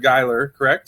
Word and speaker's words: Gheiler: last name right right it is dr geiler that's correct oh i had to pronounce the pronunciation right so let's get right